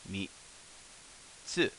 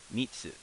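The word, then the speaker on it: 三つ: So what we're going to learn is third is pronounced in Japanese mitsu, mitsu, and the character or how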